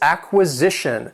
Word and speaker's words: acquisition: Next is acquisition, and this word has four syllables, and the stress is on that third syllable.